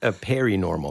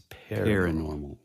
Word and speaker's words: paranormal: What is, not periwinkle, but perinormal. That's it. Yeah, oh yeah. You pronounce it like it's periwinkle, but it's paranormal. Wait, no, that's right.